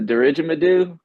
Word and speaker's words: didgeridoo: I know about it's a didgeridoo. What's that? Is that Didgeridoo, close.